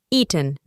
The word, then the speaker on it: eaten: Por último, el pasado participio del verbo es eaten. Como puedes escuchar, reemplazamos las vocales ea con i y pronunciamos eaten, que aquí significa comido.